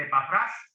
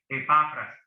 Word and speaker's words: Epafras: Van a ver que en algunos libros tiene el acento en la última A que dice Epafras, pero difícilmente yo creo que ese acento está incorrecto. Para mí que es Epafras.